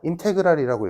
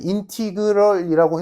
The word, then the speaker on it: 인테그랄: 그래서 s라고 아니고 얘는 인테그랄이라고 읽어. 책에서는 인티그럴이라고 했지만 난 뭐 이건 뭐 사람 차니까 난 인테그랄이라고 배웠으니까 인테그랄이라고 쓰거든 부르거든.